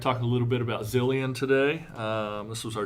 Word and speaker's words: Zilean: his name right here how do you pronounce it zillion zillion zulian I think it's z-i-o it is well we'll go with I'm going with zillion you can go with zulian